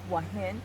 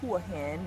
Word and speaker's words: Hua Hin: do you like to visit uh i like wahin of hua hin as some people would pronounce it yes let's see and i like